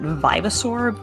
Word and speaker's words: Vivasaur: I've always pronounced it Vivasaur, as in revive, but I understand why it would be Viva for you and your multilingual background.